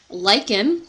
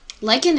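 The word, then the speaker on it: lichen: sorts of different places lyen and let me spell that out for you so you get an idea of what that actually looks like l i c h n so that's this kind of green stuff here lyen is actually a mutualistic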